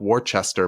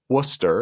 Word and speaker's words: Worcester: you're not from Massachusetts it's spelled like War Chester but it is pronounced Worcester it's the second biggest